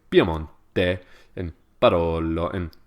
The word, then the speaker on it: Piemonte: Piemonte.